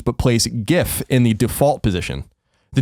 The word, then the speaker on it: GIF: what it says okay the creators of the format pronounce gif as GIF with a short G as in Jin Steve will height says that the intended pronunciation deliberately Echoes the American peanut butter brand GIF and copies of employees